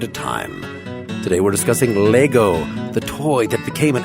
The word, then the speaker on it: Lego: It's Lego with an E at the end. Lego, but it's still pronounced Lego.